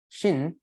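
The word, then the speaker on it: 心: interestingly in Chinese language the character for heart and mind is same Shin as it's pronounced is called heart mind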